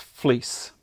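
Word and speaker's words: Vlies: not so that's it fleece VL IES and it's pronounced fleece because it looks like fleece okay all right I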